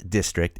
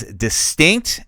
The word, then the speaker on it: Distinct: I wanted to make sure that I did make a correction on that because it is not District. It is Distinct, and I said it wrong in the beginning.